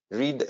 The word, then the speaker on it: read: pay, paid, put, put, read, read. Quindi read, read si scrive allo stesso modo ma si pronuncia in maniera diversa, quindi read al presente e read al passato, cambia solo la pronuncia, la fonetica.